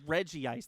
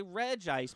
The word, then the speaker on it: Regice: out over Reggie ice he pronounces it Reggie ice that can't be right right I've always pronounce it no I've always read jice I've said I always say Regice because well the rest of them are Reggie though right